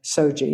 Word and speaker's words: SOGIE: gender identity, and gender expression, which goes by SOGIE. Am I pronouncing that correctly?